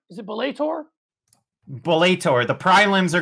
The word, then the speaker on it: Bellator: knuckles 9000 and i think this is pronounced bollator is it belator boletor the pride limbs are going on as we speak the prim's ablate uh no it's bellator you heard that right we'll talk bellator on